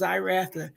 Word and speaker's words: Zyratha: It sounds like a Z instead of an X. That's how it's pronounced, Zyratha.